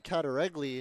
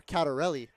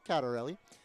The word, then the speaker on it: Katarelli: It's Mason Katari and or Katarelli as I just heard. We butchered his name for the first couple of plays, but we get it. Katarelli.